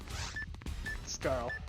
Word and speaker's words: Scarl: The C is silent. Scarl.